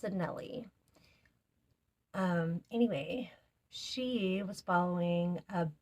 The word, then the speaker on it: Anele: I wasn't saying it right. I was saying Anele. It's Anele.